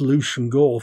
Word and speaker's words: Leveson Gower: However, this period's most important Tory in economic matters was Granville Leveson Gower, which is pronounced Lucian Gore for some reason, 2nd Earl Gower, and from 1786, 1st Marquess of Stafford.